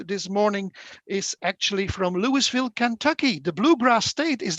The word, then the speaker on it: Louisville: i found out this morning is actually from louisville kentucky the bluegrass state is that right lori yes i am and it's actually pronounced louisville just follow it okay fine so i'll just